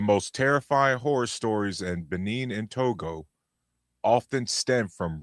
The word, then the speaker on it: Benin: So we're gonna start with Benin. Am I saying it right? In Togo? Benin. Yeah, Benin.